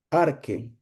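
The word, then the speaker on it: arche: Esa palabra principio es la palabra arque. Se escribe A-R-C-H-E, arque. Arque es la misma palabra para cuando decimos principio o principado, o cuando, eso es en griego, ¿no?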